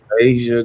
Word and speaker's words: Asia: I think it's Asia. Asia. Just like the continent.